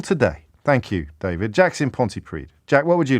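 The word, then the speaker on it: Pontypridd: thank you david jackson ponte preed jack what would you like to say good afternoon james and great pronunciation there of the uh double d at the end of the that's right the party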